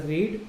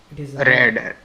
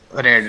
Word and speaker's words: read: traffic flow in Publications normally you pronounce this as a read but this is V2 red red red okay normally red by